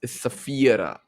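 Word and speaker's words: Saphira: So I remember it's Safira because he actually Mm, phonetically.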